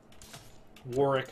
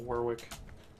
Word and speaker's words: Warwick: out their armies obviously Warick I'm sorry not Warwick that's like the number